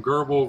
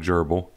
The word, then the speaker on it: Grbl: And it is pronounced Grbl, by the way, and not Gerbl. It was originally pronounced Grbl by the guy who created this, but then the guy who took it over has officially said he calls it Grbl.